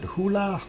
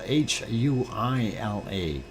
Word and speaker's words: Huila: Nevado del, and I don't know if I'm going to butcher this, is it Hula? It's spelled Huila, Hula, in Colombia. Nevado del Hula.